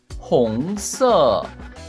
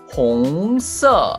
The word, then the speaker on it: 红色: 红色. There is Chinese word and pronunciation in here. But in Chinese language, there are four kinds of accent. In this color, there are two kinds of accent. 红色, like this.